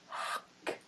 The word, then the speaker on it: ankh: And that is to represent, and also it's the ancient way of pronouncing that, A-N-K-H, is hak.